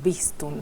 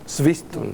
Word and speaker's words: Swistun: Sí, originalmente en realidad es Swistum. Swistum. Claro. O sea que la W ahí sería casi como una B.